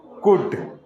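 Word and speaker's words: could: यहां एल खामोश रहेगा सी ओ यू एल डी कुड ए एल एम ओ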